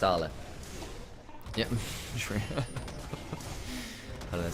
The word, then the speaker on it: Ale: It's pronounced Arla. Yeah, sure. I don't know, someone trips up. The thing is, when he was on AL, it was, some people were mispronouncing it as AL, Ale.